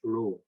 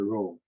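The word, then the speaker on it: rho: this and last one the row we call it low the pronunciation is a row this row means that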